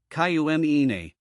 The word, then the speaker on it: cumini: But fear not, pronouncing it is easier than it seems. Here's a quick breakdown. Syzygium, Syzygium. Cumini, Cumine.